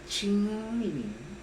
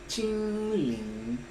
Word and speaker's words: 青靈: La primera parte, Qin, se pronuncia con el primer tono, que es un tono alto, estable, Qin, Qin. Y la segunda parte del nombre, Lin, se pronuncia con algo que yo llamo el tono de interrogación, Lin, Lin, Lin.